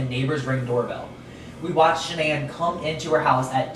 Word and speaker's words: Shanann: Alright, so Shanann Watts, it's so weird how they say her name because it looks like Shannon, but it's Shanann.